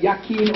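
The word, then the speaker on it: Jachin: is consciousness and energy the English J is silent and it's y so you got yakin or yakin the root of the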